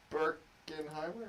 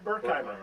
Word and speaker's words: Berkheimer: So it's Al Berkheimer? Berkenheimer? Berkheimer, yes. Berkheimer. I was so close.